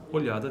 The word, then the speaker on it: olhada: Ao contrário de oleoso, a palavra olhada deve obrigatoriamente apresentar uma pronúncia de semivogal-vogal seguindo a consoante lateral.